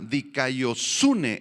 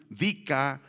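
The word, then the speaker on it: δικαιοσύνη: Esta palabra justicia, subráyala ahí en el versículo 1, es la palabra dikaiosune en griego, con K y acento en la U, dikaiosune, y describe una condición moral y espiritual aceptable de una persona delante de Dios.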